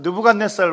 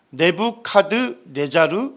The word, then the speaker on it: 네부카드네자르: 이제 바벨론 제국 하면 느브갓네살 왕으로 우리가 이제 세계 사이에도 나오고 성경에도 나와 있는데 세계사에서는 발음을 좀 다르게 해서 네부카드네자르 이라고 합니다 자 느브갓네살 왕을 뭐라